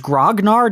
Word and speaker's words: grognard: that word is used so wait is it pronounced grognard in English in English yes but it was